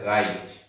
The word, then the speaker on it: write: এই জায়গাতে আমাদের একটি রুল হচ্ছে ডাবল ইউর পরে আর বা এইচ যখন থাকবে তখন আমরা ডাবল ইউ কে উচ্চারণ করব না, কারণ হচ্ছে এটা আমাদের একটা রুল।